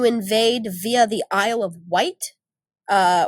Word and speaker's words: Wight: via the aisle of white uh white as in like Dwight like spelled like Dwight okay or light or night or fight however inclement weather blew